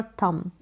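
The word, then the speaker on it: thumb: करनी पड़ेगी थंडर और थंब इन में भी ऐसा है अभी यहां पर थंब में ऐसा है की बी यहां पर साइलेंट है थंब में एम तक ही आप प्रोनाउंस करेंगे नेक्स्ट यहां पर देखें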